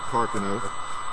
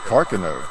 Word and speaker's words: Carcano: And he said Carcano. I heard him say Carcano. And it came to me because my entire life I heard everybody pronounce it Carcano, okay?